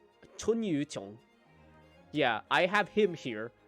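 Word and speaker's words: Chunyu Qiong: Yeah, see, I say essentials, and then I just have somebody like Chun Yu Chong here. Or, wait, that's not how you say his name. It's Chun Yu Chong.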